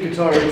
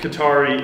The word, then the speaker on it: Qatari: I think Qatari is Arabic. Oh, is it? Yeah. I'm pronouncing it like the video game system.